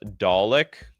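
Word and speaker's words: Dalek: It's pronounced Dollick.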